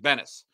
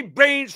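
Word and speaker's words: Benes: And his name is spelled, I believe, B-E-N-E-S, right? Yeah. Bennis. And Harry's doing play-by-play. He goes, Andy Baines from South Dakota on the mound today.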